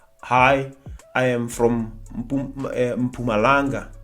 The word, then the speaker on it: Mpumalanga: We cannot say, hi, I am from Mpumalanga.